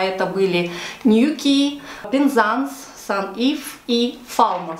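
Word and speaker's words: Newquay: про город ньокки точнее по-русски это будет звучать new клей но давайте произносить правильно по-английски англичане называют этот город new key как я и говорила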